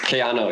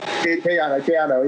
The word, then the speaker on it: Kayano: Right now, I'm running the Asics Kayano, but how do you pronounce it? Kayana? Kayano, yeah. Kayano, yeah, the Asics Kayano.